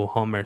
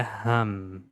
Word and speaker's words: ham: A gente pode falar home igual do Homer Simpsons, só que tira o R, né? Então fica home. Mas não, não precisa pronunciar a palavra e no final falar o. Na verdade é ram. Ham. Aqui termina com som de m no final.